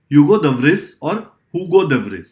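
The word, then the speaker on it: Hugo de Vries: the mutational theory of हुगो देव रीस यह हुगो देव राइस भी बोल सकते हो स्पेलिंग याद करने के लिए other wise it इज यूगो देवसरी mean while in 1902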